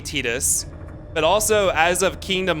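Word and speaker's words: Tidus: Is it Titus or Titus? Yeah. So, the Japanese was definitely Tetus, but also as of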